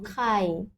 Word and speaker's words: ขา: Par exemple, ici, khả, khả, ton montant, khả, khả, ça veut dire jambe, khả, jambe.